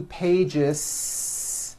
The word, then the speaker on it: pages: voiced Z to Pages it's not two pages unvoiced no it's two pages with a voiced Z even though you spell the word like this in American English you pronounce the word like this Pages you're probably saying I